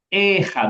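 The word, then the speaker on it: אחד: zahar itu e ahad ini bacanya nya ehad bukan ahad ehad ehad ehad set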